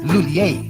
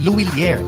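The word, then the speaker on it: Lhuillier: English speakers commonly pronounce it as Lulier. But for Filipinos, mas madaling ibigkas ang Luilier. Pwede rin gamitin ang initials na ML, which stands for M. Lulier. Pero kahit anong pronunciation pa man yan, lahat pwede.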